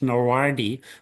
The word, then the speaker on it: NRWDI: trying to think of is pronounced NORWARDI, which is the National Radioactive Waste Disposal Institute, NRWDI, and they took over the Thyspunt site, which is in Namakwaland.